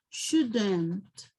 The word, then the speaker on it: shouldn't: Ok, no pronunciamos la L. Should, shouldn't, okay?